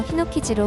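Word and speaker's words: 火の傷: 반면 불의 상처는 노자를 붙여서 히노키즈로 혼독해서 읽습니다.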